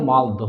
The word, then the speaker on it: মালদহ: আমাদের জেলা মালদা কিন্তু এই মালদার নাম আগে মালদা ছিল না কি ছিল মালদহ ছিল কিভাবে তাহলে মালদহ থেকে মালদার সৃষ্টি হলো